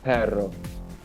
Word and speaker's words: perro: Perro. Perro. Oh yeah, No, you gotta make sure you roll the R's, otherwise you're just saying butt.